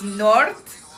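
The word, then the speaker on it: Noord: It's North Africano. So, north in like Dutch, I think it's a Dutch guy that actually sings. It is North, right? But it's spelled N O O R D and then African but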